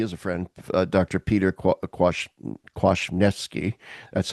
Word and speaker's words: Kwasniewski: Peter Kwasniewski. That's how you pronounce his name.